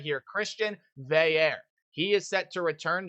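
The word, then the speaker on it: Christian Veilleux: Now, his last name is not pronounced anything like it says, so I'll pronounce it for you right here. Christian Veair.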